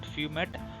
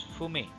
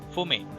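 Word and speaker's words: fumet: Fume is it's not fumate. It's should pronounce as fume. Okay, the T should not supposed to be pronunciate. It should pronounce it like fume.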